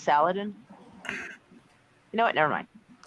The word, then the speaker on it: Saladin: Wouldn't that be pronounced Saladin? You know what? Never mind. Well, it's actually, it can be both. Fair enough. But some people are picky. So, yeah. I pronounced it Saladin for like 45 years of my life.